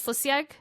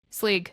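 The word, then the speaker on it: Sgaeyl: Slisiag? Sleeg.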